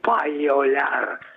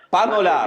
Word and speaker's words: panolar: E dica ad Alessio che non si dice paiolar. Panolar, sì. Panolar. È vero. Chiedo scusa. No, ma è una vecchia, diciamo così, affermazione che condividevamo col maestro Pilat, perché panolar deriva da panola, che è lo strumento,